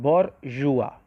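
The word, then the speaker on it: bourgeois: next बुर्जुआ अब दोस्तों इस की स्पेलिंग जो है उससे इसके प्रनंसीएशन पर मत जाइए का या इसको प्रिंस करते हैं बोर युवा युवा बरुआ का मतलब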